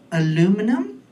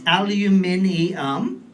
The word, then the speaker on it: aluminium: And I know most of you people say the word aluminum. That's wrong. There's way more syllables. It's aluminium.